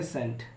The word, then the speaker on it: scent: कब साइलेंट होता है, एस के बाद सी आता है तो सी को पढ़ा नहीं जाता है। तो जैसे एग्जांपल है SCENT इसे पढ़ेंगे सेंट, SCIENC इसे पढ़ेंगे साइंस, SCENE इसे पढ़ेंगे सीन। तो आई होप ये पॉइंट्स सबको क्लियर हुए हैं।